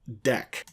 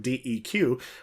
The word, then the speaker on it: deque: a related topic is the ADT deck you'll notice um the name of this thing is doubly ended Q now you a lot of people think oh double-ended Q it's like DQ why don't they have